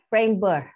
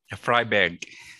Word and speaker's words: Freiberg: It's a status a public university, and also we have TU Bergakademie Freiburg. Is it correct, my pronunciation? Freiberg.